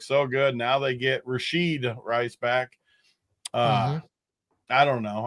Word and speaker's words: Rashee Rice: Rashee Rice, is that how you say it? Rashee Rice?